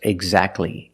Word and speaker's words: exactly: pure T intensive and when you see T between consonants it's silent don't pronounce a t if you link the sounds do not pronounce a t examples exactly and Christmas keep watching